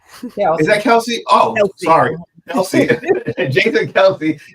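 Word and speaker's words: Kelce: Um, I can't pronounce that last name. Might go Kelsey." Is that Kelsey?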